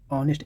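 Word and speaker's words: honest: हाँ, यहाँ पर देखिए एच यहाँ पर चुप है, ऑनेस्ट एच को छोड़ दीजिए, ऑनर, आवर, एयर।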